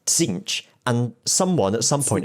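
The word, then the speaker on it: Tzeentch: also the pronunciation right there's a t at the start and the official pronunciation is zinch but i guarantee you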